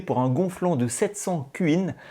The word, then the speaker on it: cuin: un gonflant de 700 cuin. Je le prononce comme ça car c’est l’abréviation de cubic inch, c’est à dire pouce cube (dans le système métrique